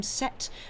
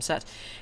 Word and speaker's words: Seth: equal music by vickram I think you pronounced his second name set but it's uh it's spelled Seth uh s e t